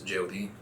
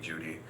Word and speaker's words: Jody: My name's Jody, but people pronounce it Jody, Judy, whatever is easiest for them to say.